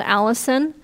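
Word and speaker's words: allicin: the c i n it's spelled a little differently than the name but it's called Allison and that is what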